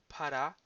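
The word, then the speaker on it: πάρα: Para, with the accent on the last syllable, should not be confused with the adverb para, with accent on the first syllable, which is used in the construction para πολύ. So too much or very much.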